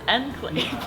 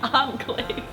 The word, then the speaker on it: enclave: I learned that the word enclave is pronounced enclave, not enclave.